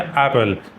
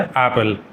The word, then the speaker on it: Apple: एप्पल। आप मेरे साथ रिपीट कर सकते हैं। एप्पल। तो डबल पी होने का मतलब यह नहीं है कि दो बार प बोलेंगे।